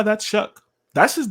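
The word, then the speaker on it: Shough: Sanders from Colorado Tyler shuck who and yes his name is Shuck are you looking at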